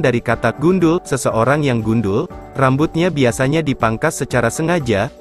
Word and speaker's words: gundul: serapan dari bahasa Jawa gundul di mana huruf d diucapkan dengan tekanan yang keras sehingga dalam bahasa Jawa